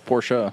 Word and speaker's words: Porsche: my laughter because it's really it's porsha we we us us europeans use the actual european name not the fake name that the americans give everything it's not a fake name that's how they pronounce it in germany listen he's british he's